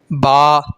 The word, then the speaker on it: ب: ہے، الف کے بعد بے نہیں ہوگا بلکہ الف کے بعد با آئے گا۔ ٹھیک ہے، اور اس